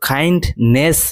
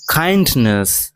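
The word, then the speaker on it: kindness: আর এই শব্দটির উচ্চারণ কিন্তু কাইন্ডনেস নয়, নয়কার দন্তস নয়, কাইন্ডনেস মানে নয় হসন হবে, কাইন্ডনেস।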